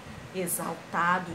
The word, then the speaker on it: exaltado: com som de z a próxima palavra é exaltado ou é assaltado que a gente fala exaltado x com som de z é auxílio auxílio ou